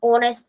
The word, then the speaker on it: honest: Ал honest person дегенде H is silent, яғни дыбысталмайды. That is why we are using an honest person.